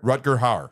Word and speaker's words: Rutger Hauer: How do you pronounce that? Rutger Hauer. Rutger Hauer.